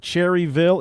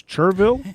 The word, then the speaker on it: Cherryville: It is spelled like Cherryville, but the locals do not pronounce the L.